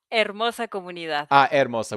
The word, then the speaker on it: Hermosa: Hermosa without the H, right? You don't have the H in Spanish. Yes. Oh, okay. No, no, no. No. Spanish. No, not South with the H. Yes. Yeah. It's a silent H.